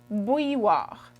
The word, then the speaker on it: bouilloire: A kettle in French is une bouilloire.